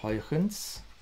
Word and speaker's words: Huygens: Now, interestingly, this is very closely related to the idea of Huygens. This is how you pronounce his name in Dutch.